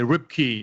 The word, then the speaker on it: Ripke: say that and um americans always say rip key and i like that and so i always sometimes use ripkey with the y but that's not how my name is spelled so it is r i p k e and i'm 40.